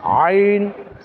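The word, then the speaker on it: ع: সেগুলোর মধ্যে মনে করেন হা আইন হা আইন এটা হচ্ছে হলকের কণ্ঠালি চেপে উচ্চারণ করতে হয় মধ্যখানের অংশ থেকে চেপে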